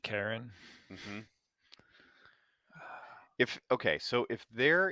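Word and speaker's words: Charon: that's the Fairman right Chiron or chyon it's Sharon actually Sharon yeah c h a r o n a okay yeah and I'm pretty sure or no I'm sorry it's pronounced Karen Karen okay yeah Karen um the Karens and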